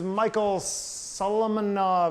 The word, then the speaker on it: Michael Solomonov: This is Michael Solomonov, I do believe is the way he pronounces it.